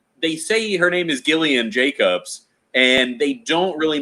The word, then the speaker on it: Gillian: had info on that i i call her jillian jacobs because i don't know any better okay i mean and it could be that could be a gag that they're doing on comedy bang bang you know who knows did you did you re did you uh watch love it's it's gillian but it's on my list it is gillian okay love is a